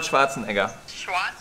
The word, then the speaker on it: Schwarzenegger: yeah, I would say Arnold Schwarzenegger. Something like that, Schwarzenegger. In Germany, we would say Arnold Schwarzenegger.